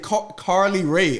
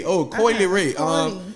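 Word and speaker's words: Coi Leray: I thought y'all said Carly Ray. Coily Ray. That's how you pronounce her name, Coy? Coily Ray.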